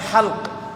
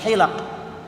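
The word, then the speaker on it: حلق: Namun gurunya lafadz halaqah, lamnya disukun, bacanya halq, bukan hilaq.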